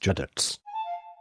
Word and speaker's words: județ: Judef, pronounced Județ, and the municipality of Bucharest.